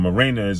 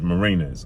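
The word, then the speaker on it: Mariñez: lost that fight uh i keep calling the martinez but it's marinas okay marina's he came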